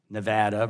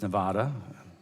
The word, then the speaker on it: Nevada: nuclear energy facilities it is exceedingly unfair that Nevada is asked to serve as The Dumping Ground